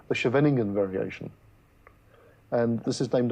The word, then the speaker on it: Scheveningen: That's the one they used to make the suspected German spies pronounce. That's right, yes, yes. I would have been caught as a German spy, but I can't pronounce it. Well, thanks to Afrikaans, I might have managed. Scheveningen. I won't try it.